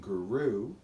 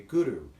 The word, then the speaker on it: Guru: So Guru, when you chant it, just please try to pronounce it with a rolled R. So instead of saying Guru, you'll say Guru, and the tongue kind of hits the upper palate and it rolls a bit.